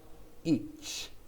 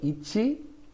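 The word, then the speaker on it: いち: each i can say ichi or i can say each often when they're counting the japanese will say each but it's ichi so sometimes these final letters get get sucked in they disappear each especially when you're doing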